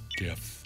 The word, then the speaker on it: GIF: excuse me excuse me I don't care what anybody says it's pronounced gif and that's just that it doesn't matter that the person who invented the format says his pronounce the other way he's wrong because everybody decided something else and words are defined by popular demand what is one guys